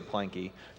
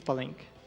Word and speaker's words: Palenque: I like to say Planky, personally, Planky. but I don't think that's right. It's Palenque. Palenque.